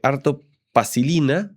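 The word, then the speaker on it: Arto Paasilinna: El tuyo lo voy a leer porque es un poco más complicado el nombre es eh de Arto Pasilina, así se pronuncia.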